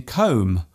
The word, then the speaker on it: comb: For example, the B in comb, womb and bomb. There is only one letter change between these words, yet they are pronounced differently. Other words containing silent letters